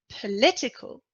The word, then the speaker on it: political: noun and the stressed syllable is the third syllable nationality just before the end politics politics is a noun political is an adjective we see that in politics